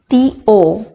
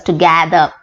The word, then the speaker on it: together: The next word, T-O-G-E-T-H-E-R, commonly mispronounced as to gather or to gather.